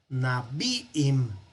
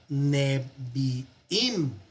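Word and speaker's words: נביאים: vamos a decir en el plural Nabiim, no, sino Nebiim. Algo similar a esto. El acento que estaba en su lugar se mueve al final. Eso va a ocurrir mucho. Y entonces al moverse el acento, también se mueve la duración de la palabra.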